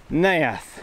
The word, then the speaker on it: Neath: Today I have not only looked it up, but I've written it down phonetically, so I know that it is Neath.